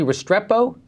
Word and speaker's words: Restrepo: So, okay, let's go to, so now there's a movie called, am I pronouncing it correctly, Restrepo?